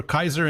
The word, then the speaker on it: Caesar: Or Kaiser in Latin. Kaiser. Kaiser in Latin. Yeah. But Caesar or César in French, it's all good.